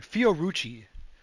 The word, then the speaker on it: Fiorucci: So, if you guys have never heard of a great treat, I've been eating these Fiorucci, Fioruccie, or how it's pronounced.